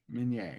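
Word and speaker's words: Minié: Let me pull up his, let me pull up his name so I don't get his name wrong. Claude Etienne Minier, Minier, yep.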